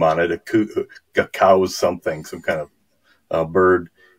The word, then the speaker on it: Coues: name on it, a cow's something, some kind of bird. And he says in a footnote that the name is pronounced C-O-W-Z.